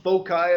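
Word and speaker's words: foci: it's always the same those two fixed points are called fosi you could follow them folai if you want most people say fosi I think that's the proper pronunciation or pronunciation if you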